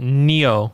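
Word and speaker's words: Nioh: i'm going to be terrible because i'm better pronouncing it but neo yep that's how you pronounce it yeah oh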